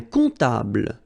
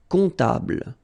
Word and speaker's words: comptable: Un comptable, so OM, remember, it goes like on, all right? And then, strangely, this P is not pronounced. Un comptable, all right?